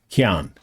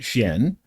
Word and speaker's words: Qian: And he is known as Chien, spelled like the French word for dog, Chien. Right? It's not chien. It's Chien.